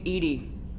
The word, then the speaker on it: EDI: Why are you named EDI? EDI is the phonetic pronunciation of EDI. That is an acronym for Enhanced Defense Intelligence.